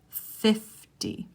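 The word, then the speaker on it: fifty: Remember, it's a D sound at the end. 50.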